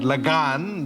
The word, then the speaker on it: Lagan: That's Lagan. Lagan. Oh, Lagan. Lagan basically means wedding. But Lagan, the A is pronounced longer.